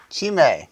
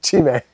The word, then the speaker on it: Chhi'mèd: Chhi'mèd. Well, don't pronounce the D. Oh, sorry. Chhi'mèd.